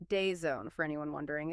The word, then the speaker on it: DAZN: That's pronounced Dayzone for anyone wondering.